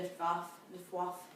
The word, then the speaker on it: Luftwaffe: I'm never 100% convinced I say it properly, but I think it's the Luftwaffe. I think W's are these.